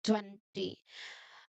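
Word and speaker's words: twenty: 20. Oh, okay. The stress the loud part is on the first part.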